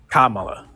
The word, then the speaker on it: Kamala: give me the right pronunciation I'm sorry I'm pronouncing it incorrectly Kamala okay sorry about that so Kamala right yeah